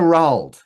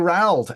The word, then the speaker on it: Rauld: Like my last name is French, and so if the French pronunciation is nowhere near from the Spanish pronunciation, which is nowhere near the English pronunciation. But I go with Rauld.